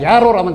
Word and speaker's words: 야로: 아까 야로라는 강이 있었다고 말씀을 드렸는데요. 발음은 야로입니다.